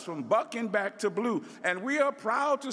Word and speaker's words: BLUU: It is pronounced B-L-U-U, blue. And as those of us in the movement of the 60s say, from bucking back to blue.